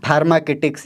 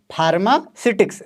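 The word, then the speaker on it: pharmaceutics: इसका नाम लेने में बहुत से लोग इसको फार्मा किटस या कुछ अलग-अलग प्रोनाउंस कर देते हैं लेकिन करेक्ट क्या है फार्मा सिटिक्स राइट जी बहुत से लोग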